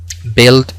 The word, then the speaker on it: build: También encontramos la pronunciación y corta cuando tenemos el grupo UI en inglés, como por ejemplo build, building, builder.